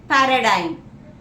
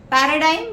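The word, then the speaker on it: paradigm: डी आई जी M weather जी इ silent या इट इज पैराडाइम पैराडाइम means a pattern of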